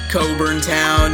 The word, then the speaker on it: Cockburn Town: Bahamas we're almost done Coburn town is how you pronounce the capitals name spreading across to Grand